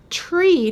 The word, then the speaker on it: trie: in this structure however Tree t-r-i-e in retrieval is pronounced the same way as t-r-e-e and it would be